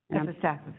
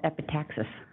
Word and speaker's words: epistaxis: I don't know why I want to call it epitaxis. It's epistaxis.